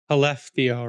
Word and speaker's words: Skellefteå: Skellefteå, Ryan. Yeah, you don't pronounce the S.